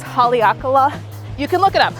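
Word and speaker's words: Haleakalā: favorite activity I'm totally going to butcher the pronunciation probably but I think it's Haleakala you can look it up it's a volcano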